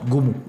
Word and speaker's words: Ngoumou: Si vous voulez rencontrer le père Placide Aimé, ça s'écrit Ngoumou, mais ça se prononce Goumou.